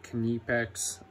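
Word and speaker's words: Knipex: Yes, that's how you say it, Kenepex.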